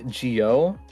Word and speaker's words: Jyo: tend to call me Jyo. So I was like, just like to reiterate, I can't speak. How to pronounce it. I was like, oh yeah, like Joe, as in Joe Mama.